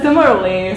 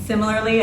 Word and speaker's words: similarly: The similarly. So I guess apparently all my life I've been saying similarly as similarly. Yeah. Right? We added an extra syllable in there, similarly.